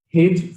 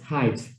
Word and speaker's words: height: understand what i pronounce okay okay i always pronounce this as hint from five years old till now okay so i will have to correct it as height okay thank you okay so we compare the height of these two kicks and you see that